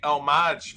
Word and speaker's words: homage: it jim d'amico says the h is silent so i have to say homage from now on oh my god it's